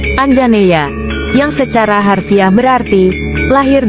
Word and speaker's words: Anjaneya: Sebagai putera Anjani, Hanuman dipanggil Anjaneya, diucapkan Anjaneya, yang secara harfiah berarti lahir dari Anjani, atau putera Anjani.